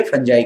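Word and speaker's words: fungi: वो होती है फंजाई की वजह से। कुछ लोग फंजाई को फंजी भी कहते हैं, एक ही बात है, अपना अपना अलग अलग लोगों का प्रोनाउंसिएशन है।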